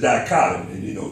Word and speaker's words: dichotomy: to, figure out what's going on with the dichotomy of man. Remember we said the dichotomy, he got two parts. He's got the spirit and the flesh. So that's the dichotomy, two parts.